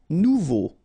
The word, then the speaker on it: nouveau: final x not pronounced nouveau remember combination of e a and u together it's all so you get nouvea ok agréable insist final